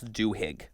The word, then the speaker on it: Duhigg: It's called The Power of Habit, Why We Do What We Do in Life and Business by Charles Duhigg, I think is how you pronounce his name.